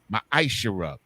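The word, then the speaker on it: ma'aser: You can find this in Numbers 18 and 21 in Malachi chapter 3, verses 8 through 10, which means 10th in the Hebrew and is pronounced ma'ashara.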